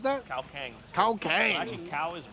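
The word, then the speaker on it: ข้าวแกง: we're going to go to how do you pronounce that cow Kang cow Kang actually cow is rice Kang is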